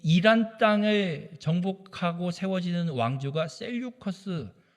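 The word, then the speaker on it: Seleucus: 이 이란 땅을 정복하고 세워지는 왕조가 셀류커스 혹은 셀류코스 혹은 셀류쿠스, 외래어라 영어를 읽는 발음이어서 자기 멋대로 읽습니다. 저는 이렇게 읽습니다.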